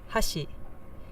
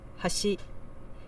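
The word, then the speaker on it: 橋: let's listen to it Hashi meaning Bridge how's she so the second syllable is a little bit higher than the first but to me it doesn't sound like it's quite as big of a contrast um because the real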